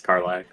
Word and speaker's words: Karlach: I don't remember that's how the fuck to pronounce her name. I was gonna ask if that's what your profile picture was. It's Karlach.